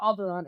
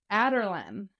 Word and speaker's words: Adarlan: So Alderon is not Alderon. It's Adarlan.